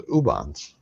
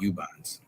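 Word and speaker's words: Ubon's: Thought it was Ubans. No, that was She's been politely for years letting me pronounce it Ubans. And it's actually Yubans.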